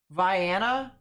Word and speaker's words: Vienna: that cell near Jasper and Brownell as well Vienna that's what it's pronounced sheesh uh no debris signature on this